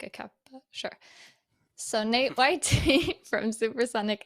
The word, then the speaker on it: NateYT: So Gundren FPV from XBlades and NateYT from, is that how do you say NateYT or NateYT? Oh, a lot of people say it different ways. I say NateYT, but I came accustomed to Natey.